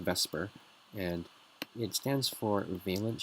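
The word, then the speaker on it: VSEPR: So in your textbook, this is pronounced VESPR, and it stands for valence shell electron pair repulsion.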